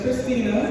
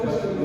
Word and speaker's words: Christina: Hi everyone, my name is Christina, although I have been called Christian before.